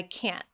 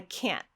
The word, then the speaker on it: can't: So now the only thing that's different is this T at the end. I can. I can't. Did you hear that glottal stop, that sharp stop of air?